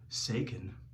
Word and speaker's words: Saken: My grandfather hated Italians, his own people, so he changed our name to Saken. And no one can pronounce it, even though it rhymes with bacon, but it's spelled weird.